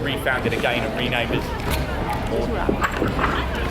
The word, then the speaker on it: Magdalen: Some people are confused about the pronunciation of Magdalen. It looks like Magdalene. We usually say Magdalene when we're talking about the biblical figure. It's just the contemporary pronunciation of the word.